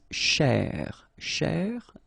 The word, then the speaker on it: chercher: So this first part here, C-H-E-R, you will pronounce it quite open, so it's cher, cher, okay? And then here, just because you've got this ER at the end, okay? If you remember, the rule goes like ER at the end will be pronounced E, okay? So you get chez, all right? So chercher, chercher, okay?